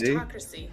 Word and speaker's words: gerontocracy: It is a state or society or a group governed by old people, and it is pronounced gerontocracy.